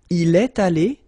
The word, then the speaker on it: Il est allé: Il est allé. Il est allé. You've got this little liaison between the two.